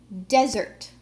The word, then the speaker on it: desert: can see it and you can also hear desert that the first syllable is stressed why is this important